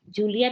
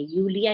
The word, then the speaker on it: Julia: यूलिया, वी जे को yacht बोलते हैं ना, यूलिया। पर नाउन तो नाउन ही होता है ना? नाउन तो नाउन होता है, बट उनका प्रोनाउंसिएशन वैसे ही चलता है। जूलिया नहीं पढ़ेंगे, यूलिया ही पढ़ेंगे।